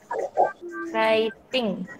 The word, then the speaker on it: writing: Aku suka nulis ya bacanya bacanya itu bukan greeting ya bukan WR tapi Rara writing bacanya kekinian anak ilike